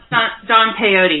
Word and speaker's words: Don Peyote: Don Peyote. Oh, Don Peyote, yeah. It's a play on Don Quixote.